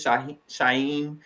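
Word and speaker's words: Shauhin: one out this is Shah shyen that's the way to pronounce his name y'all he gave us a tutorial over the weekend sh soft h a soft H or no h at all he said people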